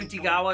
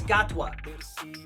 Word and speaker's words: Gatwa: wait to see chy gawa G's gawa why do I keep saying gawa it's gatwa chy gatwa no yeah got